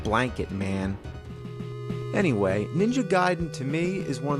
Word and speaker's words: Gaiden: We're talking Ninja Gaiden. Everyone always said Ninja Gaiden, but I know for a fact it's Gaiden. You know where I Gaiden. learned that? From the wizard.